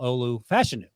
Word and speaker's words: Olu Fashanu: the summer and uh number 74 left tackle Olu fashion I found out is how he pronounced his name called the Joel Clap by